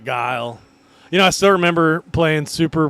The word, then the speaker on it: Guile: When we were kids, we called him Gully. Yeah, we would call him. I'm gonna be Gully. I'm picking Gully. Now, We didn't know how to pronounce big words like Guile.